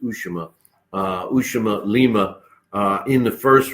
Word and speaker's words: Lima: I was saying Usama, but I guess it's pronounced Ushima.